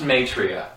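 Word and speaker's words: Maitreya: the angel my tra m a i t r a y a Google it it's pronounced matria also did you just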